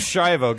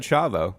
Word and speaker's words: Schiavo: Like, it's around, but Hey, like, It's Shivo. Get your off-color references straight, I buddy. said it right. It's Shivo. You said Chavo.